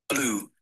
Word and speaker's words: blue: Então não é blue. Blue ou blue não é blu nem blue. Blue, né? Blue. Essa é a pronúncia correta. Blue. Apenas uma sílaba. A tendência nossa duas sílabas. Blue. Blue que seria incorreto.